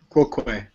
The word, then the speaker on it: quoque: Quoque. Everybody says it wrong.